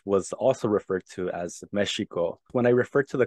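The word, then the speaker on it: Mēxihco: of Mexico for sure meshiko with a Nawa pronunciation this event right it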